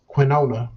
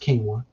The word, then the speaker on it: quinoa: options brown rice and quinoa not quinola black people quinoa it's pronounced quinoa perfectly plain oatmeal so